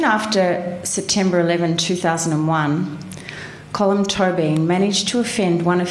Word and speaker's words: Tóibín: I pronounce it Tóibín, but I'm going to have to keep saying it because I can't.